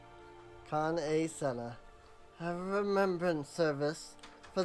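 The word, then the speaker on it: Kan-E-Senna: Kan-e Sena. I understand you bear a message from the Flame General. I always say it wrong. Kan A. Senna.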